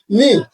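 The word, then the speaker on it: knee: কে নি না এটা কে এন ডাবল ই নি শুধু নি হবে এই কে বলতে পারেন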